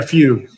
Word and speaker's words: fugue: How do you spell it? A Like fugue? what Mozart? Yeah, fugue.